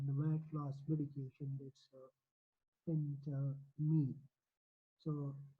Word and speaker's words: Phentermine: Today we are going to how to pronounce the medication, the weight loss medication. That's Phentermine.